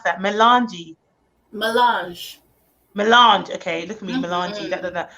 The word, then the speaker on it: Melanj: How do we pronounce that? Melange.